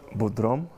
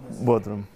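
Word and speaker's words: Bodrum: in the summer and uh I was in Budrom I said it right Broom Bodroom and uh I remember I was I saw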